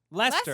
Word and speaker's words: Leicester: Lester. Lester. Lester. Lester. Well, in my Oh yeah, because Gloucester is pronounced Gloucester and it's spelled Gloucester.